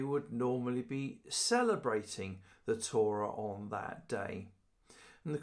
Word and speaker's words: Torah: Now, the word for teaching in Hebrew is Torah, or Torah, if you want to pronounce it the Hebrew way.